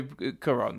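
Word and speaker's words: Cuarón: there's a first as a first topic alfonso quran that's how you say his name is yes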